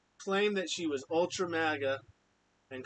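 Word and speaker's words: MAGA: she was all Ultra magga and even though she can't even say it correctly she calls it Mega um at least she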